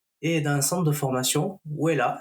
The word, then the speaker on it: Wella: d'un centre de formation, Wella, si je prononce bien. Voilà. Bonjour Maud. Bonjour Sébastien, c'est très bien prononcé, Wella et Trails the World, c'est bien ça.